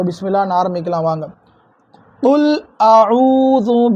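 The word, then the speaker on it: قل: நல்லா அடி தொண்டையிலிருந்து உச்சரித்து குல் என்று சொல்லணும்.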